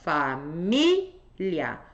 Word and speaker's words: família: são ditongo ou hiato eu vejo onde é que tá a sílaba tônica sílaba tônica tá aqui ó família tônica na anterior tem ditongo no final tônica na anterior tem